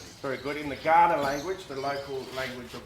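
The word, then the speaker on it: Kaurna: And Ghana is is is spelled K A U R N A.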